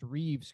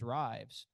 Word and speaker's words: Reeves: You pronounced Reeves correctly, because when I first saw this guy's name, I thought it was Rives. Why? Because I guess that's how it looks. Well, it turns out it's Reeves, like Christopher Reeves.